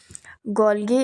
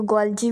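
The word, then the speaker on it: Golgi: तो कैमिलो कैमिलियो गॉलगी 19 देखो गॉलजी भी बोलते हैं बहुत से लोग मैं गॉलगी बोलती हूं तो ठीक है आप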